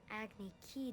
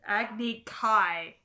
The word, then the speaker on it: Agni Kai: Then Prince Zuko was sentenced to an Agni Key duel. Nope, I'm out. Nope. Agni what? Agni Key. They missed the A. It's Agni Kai.